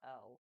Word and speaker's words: Knull: Um, the Avengers were fighting Null, the creator of Venom, and for those who want to look him up, it's pronounced Knull. I may be wrong.